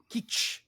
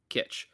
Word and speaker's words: Kitsch: That seems right, especially in the stage of the relationship that they're in, Decker and Keach. Yeah, Kitsch. Kitch.